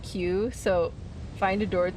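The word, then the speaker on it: 九: In Japanese 9 is pronounced like Q.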